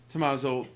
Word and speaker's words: Tommaso: How do you properly pronounce your name in Italian? Hi, Jeremy. Thanks a lot for having me here. Tommaso, EasyShip.